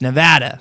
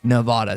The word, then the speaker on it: Nevada: first round games in Las Vegas, Nevada, as the locals say, not Nevada. They get mad if you say Nevada.